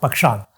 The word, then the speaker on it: Pakshal: Yes, is that the correct pronunciation? Pakshal. Pakshal.